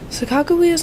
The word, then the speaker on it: Sacagawea: Sacagawea's name is really pronounced Sacagawea.